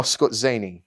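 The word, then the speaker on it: Skorzeny: come in really handy um we've got um scorsese's commandos i think that's how you say it scorcini oh scott zaney yeah yeah germans that's that's a good way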